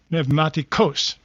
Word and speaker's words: Pneumatikos: And Nick Pneumatikos, no wait, I got to say it right, Pneumatikos, that's it. Got to put the accent where it belongs.